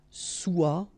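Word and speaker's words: sois: So être will become soit. Remember, final S is not pronounced. Soit.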